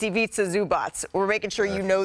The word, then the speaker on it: Zubac: I love a a clever uh defensive player of the year campaign pronounced Zubots.